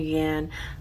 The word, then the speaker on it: yang: So, the concept of yin and yang, and it's pronounced yan, as I've been corrected before. I was calling it yang, yang, yang, and somebody said, nope, that's not how you pronounce it. And I'm like, okay, I will look that up, and they were right. It is yan, so there you have it.